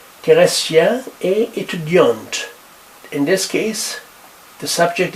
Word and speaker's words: étudiante: In this case, we pronounce the T.